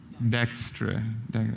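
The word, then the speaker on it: Dijkstra: to uh illustrate the I don't know how to pronounce that I hope it's this digra dexra okay just in order to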